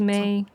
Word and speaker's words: me: The syllable for flat 3 is may. Syllable for flat six is lei.